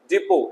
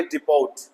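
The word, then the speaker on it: depot: इस तरीके से डिपो ना के डिपोट, डिपो जहां गाड़ियां खड़ी होती है।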